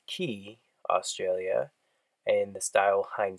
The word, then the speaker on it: Quay: shades this is from the brand pronounced ki Australia and the style